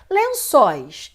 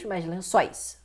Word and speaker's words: lençóis: que é sílaba tônica tu lençóis em Lençóis lençóis sois a temos um encontro vocálico aqui então não vai ser Lençois só isso esse não é vogal